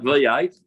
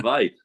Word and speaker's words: Vate: Not V8, but Vate.